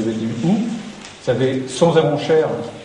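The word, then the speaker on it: Sons-et-Ronchères: Vous avez Sons et Ronchères, je prononce bien Sons et Ronchères, parce qu'on m'a fait remarquer qu'il fallait pas dire Sons et Ronchères.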